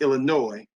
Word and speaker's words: Illinois: A friend in the past told me it is pronounced Illinois. There's no noise in Illinois.